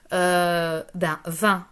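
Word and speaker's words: vingt: Ensuite, 20 en chiffres, 20 en lettres. Alors, notez que 20, ça s'écrit à la fin avec deux lettres G et T qui sont muettes.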